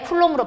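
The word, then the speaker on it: Coulomb: 우리 공부할 때는 쿨롱 했는데 쿨롱으로 바뀌었어요. 미국식 발음으로.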